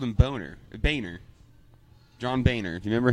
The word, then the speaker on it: Boehner: They always called him Boehner. John Boehner. Do you remember him? No. He was in. He's either a senator or congressman. Boner sounds right, though. He pronounced it Boehner, but it was absolutely spelled Boner.